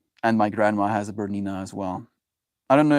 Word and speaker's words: Bernina: It's Bernina. Hey Google, Bernina sewing machine. Yeah. Bernina. That's the sewing machine my mom has, and my grandma has a Bernina as well.